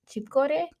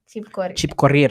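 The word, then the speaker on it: Chepkorir: Lynette Chipkore. Chipkorir.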